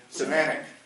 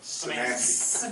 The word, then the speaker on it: Szymanski: Semantic. Can you pronounce it into the mic? She's Samantha. Szymanski. Szymanski, pretend it's an I.